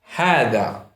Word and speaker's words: هذا: هذا. It is pronounced like this, starting with the ha and two vowels, ha, the dal, هذا.